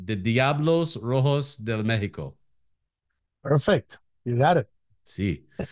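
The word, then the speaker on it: Diablos Rojos del México: the mexic it's the correct me in the pronunciation the Diablos Rojos de Mexico perfect you got it see so when they're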